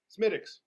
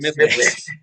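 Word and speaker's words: Smithwick's: It's not pronounced the way it's spelled, and I can't remember it for the life of me. Schmittix.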